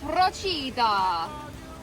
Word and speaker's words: Procida: We just learned how to say the name of this island. I googled it and it's Prochida.